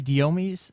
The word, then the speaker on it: Diomedes: We also want to give a thanks to Mighty Diomedes. That's how you pronounce that.